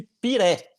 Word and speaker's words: Pirae: Então, lá no Tahiti, eles chamam de Piré.